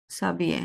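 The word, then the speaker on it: s'habiller: আর হচ্ছে savile না না, ডাবল উচ্চারণ হবে না, সাবিয়ে, সাবিয়ে। sabie ও Right.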